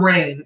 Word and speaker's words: Reign: the subject line for Rain. Her name is spelled REIGN. Rain like a queen.